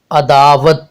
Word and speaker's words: عداوت: ہے۔ اب ہمارا اگلا لفظ ہے عداوت، عداوت، عین پر زبر، دال پر زبر، الف پر جزم، وا پر زبر اور تے پر جزم لگانے سے یہ تلفظ عداوت، عداوت بنتا ہے۔ اب ہمارا اگلا لفظ